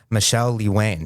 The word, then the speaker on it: Michele Lewane: And today we've fortunate enough to have a special guest, Michelle Lee Wayne. Did I pronounce that correctly?